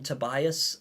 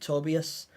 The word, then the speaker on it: Tobias: Tobias is they like I always struggle to say his name because I've been calling him Tobias uh and wasn't until I listened to the sounds of nightmares again uh where they pronounced it tobius um so yeah if